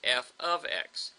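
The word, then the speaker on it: f(x): That's f open parentheses x close parentheses and that's pronounced f ofx.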